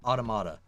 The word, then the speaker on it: Automata: Automata or Automata? What's the right way to say that? Automata.